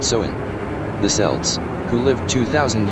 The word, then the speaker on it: Samhain: Halloween's origins date back to the ancient Celtic festival of Sam Hayne, pronounced soen.